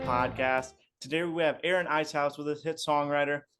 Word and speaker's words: Eshuis: My last name is pronounced Eshuis. Eshuis. Okay, Yeah, gotcha. but my publishing is Tunes, and my Reverb account is. So you didn't get it wrong. I'm just giving you the Dutch pronunciation of it.